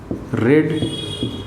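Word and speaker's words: read: राम के साथ विल का प्रयोग होगा, will not have रेड a book. रीड रेड रेड spell same रहता है, उसका उच्चारण दूसरा हो जाता है।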